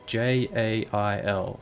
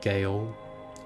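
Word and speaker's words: gaol: I spell it J-A-I-L, because that just makes the utmost sense. Not Gale. Gale. Jail.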